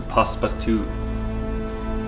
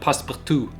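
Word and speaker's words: passe-partout: This is an A3 frame with the passepartout, the little white edge that adds a little extra.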